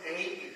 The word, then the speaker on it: Aim: literature or literally oriented, it is written in as Aim, Hreem and Klim, but the pronunciation we made sure was Ain, Hreem and Klim. So there is a subtle difference. Anybody who chanting Aim, Hreem and Klim is not wrong.